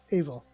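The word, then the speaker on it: Aoibheall: but modern english or modern irish is a-o-i-b-h-e-a-l-l also angelicizes evil or evil nice so yeah nope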